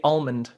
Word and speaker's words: almond: How do you say almond? Almond. So Noel when you say no, there's no L in that fucking word.